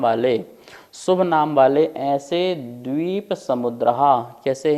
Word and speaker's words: द्वीप: ध्यान से देखिए क्या लिखा है, जम्बू द्वीप, दीप नहीं बोलना, द्वीप है, ठीक है ना, दा में वा भी लगा, द्वीप है।